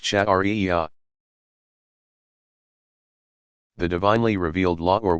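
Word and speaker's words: sharia: study and interpretation is called sherry a pronounced chat aria the divinely revealed law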